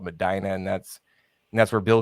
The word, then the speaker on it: Medina: is that right yes you said it right usually everybody butchers it Medina but yes it's Medina just south of Cleveland